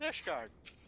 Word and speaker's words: Ishgard: But it rhymes. Like Isengard, but Ishgard.